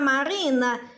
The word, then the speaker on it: Marina: Marina, quando eu falo Marina, qual som é mais forte? Ó, vamos chamar Marina.